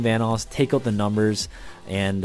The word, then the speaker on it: Vanoss: to this channel obviously my name is pronounced vanoss and if you guys